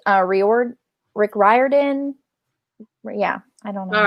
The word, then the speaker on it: Riordan: last name rorydon rick right i've heard it's pronounced uh riord rick riordan yeah i don't know all right uh mainly